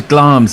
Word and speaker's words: Glamis: Corridor usually th well I suppose glams is spelled Glamis so I uh he